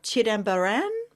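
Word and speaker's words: Chidambaram: Now you might have to correct my pronunciation here. Um born in the temple town of Chidamaran.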